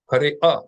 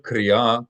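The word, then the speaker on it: קריאה: aleph with a vowel, what I want you to do is imagine it's a T at the end of a word, or imagine it as the British T. Kri'a instead of kriya, kri'a, kri'a, kri'at.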